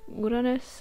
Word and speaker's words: Uranus: we have some character designs for neptune and uranus, I prefer to pronounce it that way I really like this spread, I think it turned out really nicely.